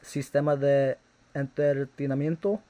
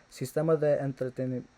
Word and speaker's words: Sistema de Entretenimiento: been listening to was Sistema de Entretenimiento. Did I even fucking pronounce that right? Sistema de Entretenimiento. I did not pronounce it right the first time. Oh my fucking god. Sistema de Entretenimiento.